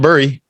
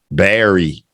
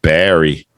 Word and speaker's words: bury: the pronunciation is bare Berry yeah see ER Berry like a berry that you would eat and he's burying some